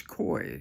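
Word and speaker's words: Coie: called you ready Perkins koi c i e i I guess that's how you pronounce it now I want you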